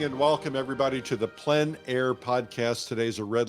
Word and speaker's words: plein air: This is the Plein Air Podcast with Eric Rhoads, publisher and founder of Plein Air Magazine. In the Plein Air Podcast, we cover the world of outdoor painting.